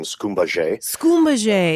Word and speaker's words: Skumbaye: Did I pronounce that right? Very close. It's Dr. Skumbaye.